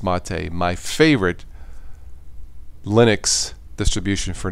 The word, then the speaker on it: MATE: out Ubuntu man mate Ubuntu mate it's spelled may but it's mate my favorite Linux distribution